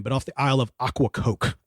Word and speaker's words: Ocracoke: off the Isle of Aquacoke. It's about the best I could. Hey, sounds great. Yeah, I literally wrote it phonetically of aqua coke, like aqua water coke.